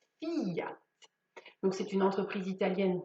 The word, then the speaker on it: Fiat: dernière ses filles oui le i se prononce on ne dit pas fiat mais on dit fille a donc c'est une entreprise